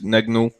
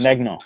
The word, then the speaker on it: Gnagnon: We have problems pronouncing his name too. It's Gnagnon. just Magnon.